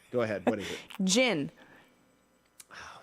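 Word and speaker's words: djinn: Gin.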